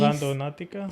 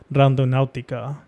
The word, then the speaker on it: Randonautica: Randonautica? Sí. Like literally how it sounds.